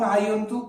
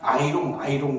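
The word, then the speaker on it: iron: 일본 아이들이 일제강점기 시작하면 이걸 갖다 아이롱 그래가지고선 아이롱 다리미를 생각하시는데 이 철이거든요. 이게 영어식 발음으로는 아이언 이렇게 발음이 되기 때문에 이 쇠로 만들어진 이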